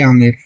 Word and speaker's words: आमेर: पे रखा नाम अंबर और जब जैसे अंग्रेज आए सर कहते हैं कि उन्होंने इस को साइलेंट किया और इसे बोलने लगे आमेर इसलिए आज भी इसका डॉक्यूमेंट में नाम तो अंबर ही है लेकिन लोग